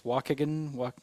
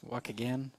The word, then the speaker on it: Waukegan: It's Waukegan. Waukegan.